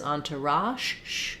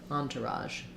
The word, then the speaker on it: entourage: r can go in the last syllable with the um sound so this is sound we say it in words like garage we also say it in words like measure or visual it's often spelled with a letter s it's like the sh sound but our voice is on so think of it as Entourage and then put your voice on Raj Entourage um yes that's